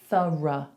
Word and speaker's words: thorough: Is your instinct to say through? Let me tell you, we actually say thorough. Thorough. So I want you to throw that sound away at the end. We're just doing what's called a schwa.